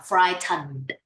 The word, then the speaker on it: frightened: Yeah, frightened. Frightened. Yeah, frightened. Frightened. This is not frantic. This is not frantic. This is the long, the long end, the long end.